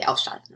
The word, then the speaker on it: ausschalten: Do I have the stress on the prefix or not? Do I say ausschalten or ausschalten? I say ausschalten, right?